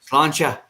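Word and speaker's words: Sláinte: Slante or Slancha. You slut? Whatever. Slancha, or no, I guess it's spelled slanty, but no, the pronunciation is slancha.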